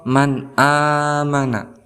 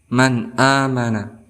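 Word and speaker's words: مَنْ آمَنَ: Nun Man amanah kemudian cara bacanya tidak boleh didengungkan tidak boleh secara dengung dua harokat tidak boleh tetapi harus langsung amanah seperti itu kemudian kita Contohkan huruf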